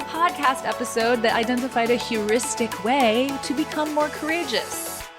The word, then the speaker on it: heuristic: day today it is heuristic and it's spelled kind of weird so obviously include it in the show notes but it's h-e-u-ristic heuristic it means any approach